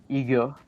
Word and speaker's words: IGA: store chain in Quebec called uh IGA mhm and we we pronounce it ego because because yeah just